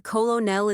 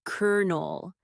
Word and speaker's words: colonel: Pronounced cash nerdy, but expensive sounding. He's a colonell in the army. Deep sigh. It's kernel.